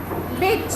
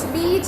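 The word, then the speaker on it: bitch: बिच। बीच नहीं बोलते, बिच बोलते हैं, बिच।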